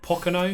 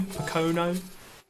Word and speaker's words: Pocono: How do you pronounce that name? Pocono. Pocono.